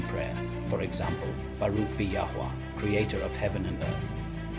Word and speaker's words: Yahuah: It's pronounced Yahuah, from the Hebrew root what to exist or to be.